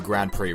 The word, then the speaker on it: Grand Prix: for this review I'm going to do a grand prix race oh don't you mean Grand Prix hi